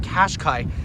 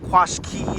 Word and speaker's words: Qashqai: We've got a nice wraparound taillight here, the Qashqai logo, and that's how you pronounce it, Qashqai, not Qashqai or Qashqai.